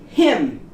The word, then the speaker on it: hymn: Hymn. N is out.